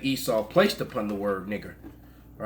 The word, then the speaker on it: Niger: Or Pescennius Nigger, actually, to be correct, because it's pronounced nigger, not Niger.